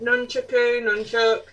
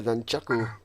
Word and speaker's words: nunchaku: Nunchuck. The nunchaku.